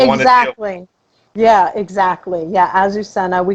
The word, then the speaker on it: Azucena: pronounce her name? Azucena. Azucena.